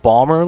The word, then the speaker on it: Ballmer: It is actually Ballmer. So, wait, Steve Ballmer? Wait. So it's not Baltimore. It's pronounced Ballmer, like the owner of the Clippers.